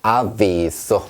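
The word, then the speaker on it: avviso: 자, 그런데 만약에 비가 하나였다면 아비소 하겠죠. 근데 자, 비비 이렇게 두 번이기 때문에 아비소 이렇게 좀더 진하게 발음해 주시면 됩니다.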